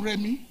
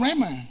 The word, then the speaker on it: Remi: to be removed no i'm remy and i'm not raymond i'm a redmi my